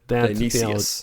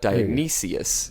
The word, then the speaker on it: Dionysius: And I'm always confused by Dionysus, pseudo-Dionysus, but that's Dionysius, not Dionysus. Dionysus. He's the Greek god, isn't he? Dionysus is the Greek god. Dionysius. You're missing a syllable there.